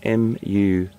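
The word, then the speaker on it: musth: It's called the must gland, and that's spelled M-U-S-T-H, M-U-S-T-H, must.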